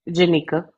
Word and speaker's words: Jenica: Jenica.